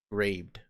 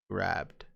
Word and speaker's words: grabbed: one that's spelled correctly if i try to spell grabbed with one b only one b then the way you would actually pronounce it is raped but if i add the second b then it becomes grabbed so the way that